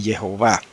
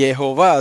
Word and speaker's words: Jehová: Y Jehová tiene 3 sílabas.